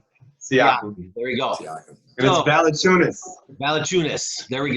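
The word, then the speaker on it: Valančiūnas: how do you say his name - yeah Valanciunas now the tunas there we go Valanciunas I just know that he you know these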